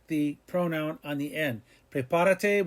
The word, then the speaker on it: prepárate: Prepárate, we went back 3 and put an accent mark, and we have it pronounced correctly.